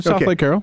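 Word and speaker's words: Southlake Carroll: You're not you're not allowing me to go make money at at at South Lake Carol or Carol. I say it wrong. It's You said it right. South Lake Carol.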